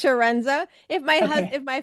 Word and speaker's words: Chiarenza: The like an S, so it's Sharenza.